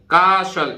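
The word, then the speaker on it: castle: इसी तरह देखिए ये कास्टल नहीं है, कासल, TLE, कासल। कासल माने किला, लास्ट का ई तो वैसे भी उच्चारित नहीं होता है।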